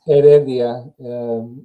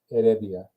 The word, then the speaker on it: Heredia: worst at pronouncing name so go ahead and pronounce your last name for us real quick it's Adia it's the ages Island Adia okay and met my first name is actually